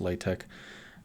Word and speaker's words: LaTeX: like mac techs but lat Tech what just spelled l c x is just pronounced latch I don't know why but it is so on their website